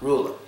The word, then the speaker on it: ruler: where just swas out in the word ruler you guys already know it's that e the E before the r it gets to schwat sound ruler ruler that's how we pronounce it ruler the only reason I